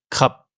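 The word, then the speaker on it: ขับ: Comme il y a la fin de la syllabe, il se prononce comme un P final. Ça nous donne le mot krap, conduire.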